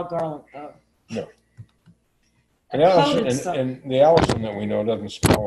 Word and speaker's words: allicin: I don't know how you pronounce it's Allicin, like the name.